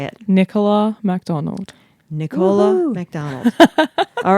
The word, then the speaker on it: Nicola MacDonald: Nicola MacDonald.